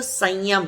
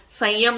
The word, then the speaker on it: संयम: अब वो संयम लिखने में वो जो अंग की बिंदी है ऊपर, उसको म से लिख देते हैं तो लोग उसको प्रोनाउंस भी कर देते हैं, संयमा बोलने की जगह संयमा बोल देते हैं, तो वो गलत प्रोनाउंसिएशन है।